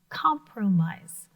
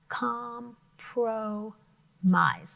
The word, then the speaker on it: compromise: we make a compromise it's pronounced just a little bit differently com pro mize so we break that into three syllables that means that we're